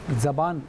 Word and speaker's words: زبان: غلطیاں تھیں اس میں تلفظ کی تھی زبان، تو زبان اصل تلفظ ہے زبان، ٹھیک ہے۔ دوسری چیز